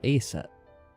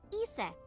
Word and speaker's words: Isis: About A set. Horus's mom is named bet. Isis. But in ancient Egyptian, it's pronounced closer to Ise or Aset.